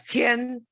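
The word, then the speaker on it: 天: for is heaven heaven heaven in chinese me is is pronounced as tien it means two things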